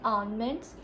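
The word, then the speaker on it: almonds: एक तो ये इंग्लिश ना बड़ी अजीब है, अगर एल साइलेंट ही है तो फिर लगाए ही क्यों है आलमंड्स।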